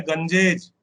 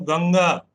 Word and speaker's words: गंगा: मेरा काफी गड़बड़ है, लोग मेरे प्रोनाउंसिएशन को जब ठीक करते हैं वो कहते हैं गंजेज, मैं कहता हूं गंगा।